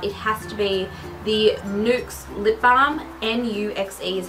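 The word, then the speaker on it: Nuxe: without a doubt it has to be the nukes lip balm n-u-x-e is how the brand is spelt they only have one lip balm i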